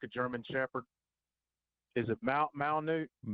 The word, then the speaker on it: Malinois: I'm not real good at pronouncing names, but the one that looks sort of like a German Shepherd, is it Malinois? Malinois.